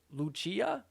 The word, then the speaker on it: Lucia: I was like oh that's how you pronounce it Luchia okay Luchia Goma from